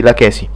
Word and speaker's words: Lachesi: Che bello tempio di Lachesi. Lachesi. No, vabbè, non c'è l'accento, quindi Lachesi.